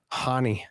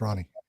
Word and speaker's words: Ronnie: Next fight we got here is Cody Garbrand versus uh how do you say his first name? Barcelos. Ronnie. Ronnie. Honey. Honey. No, it's Ronnie.